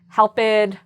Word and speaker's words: helped: So notice I did not say helped, liked, watched, talked, kissed. No, I just made that strong t sound.